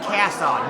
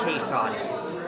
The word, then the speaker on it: Casson: Now, That's pronounced Casson, not Cason.